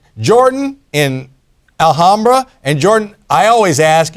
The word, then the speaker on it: Alhambra: It's pronounced Alhambra. All right, Alhambra. Emphasis on the ham, I'll tell you that.